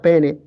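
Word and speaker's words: paene: deriva del adverbio que se escribe en latín pa pero que se pronuncia pene casi poco más o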